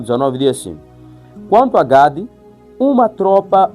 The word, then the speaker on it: Gad: Gênesis, capítulo 49, versículo 19, diz assim: "Quanto a Gade, uma tropa o acometerá, mas ele a acometerá por fim". Olha só, então estamos a ver que Gade, né? Gad, assim que se pronuncia, ele representa um caráter de guerreiro perseverante.